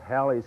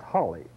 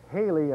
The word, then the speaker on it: Halley: a good justification that in England at the time of this famous astronomer it would have been pronounced Holly so Holly or Halle are equally valid pronunciations Haley I think is not